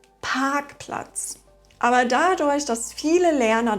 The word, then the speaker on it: Parkplatz: Dann sagen viele z.B. Parkplatz statt Parkplatz.